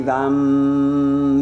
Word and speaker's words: Vam: And Vam with a V, Vam, that's your one syllable Sanskrit mantra.